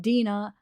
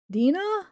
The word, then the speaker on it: Dina: missing by the way it is pronounced like oh here we go like Dina the E the I has the e sound Dina or Denna because D